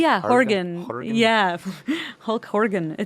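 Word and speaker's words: Hårga: Oh yeah, Horgas. That is right. It's spelled with an A, but they pronounce it with an O.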